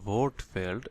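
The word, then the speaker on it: Wortfeld: সো এখানে দেখেন, এটা হচ্ছে বোর্ড ফেল্ড, এটাকে উচ্চারণ করা হয় ভোট ফেল্ড।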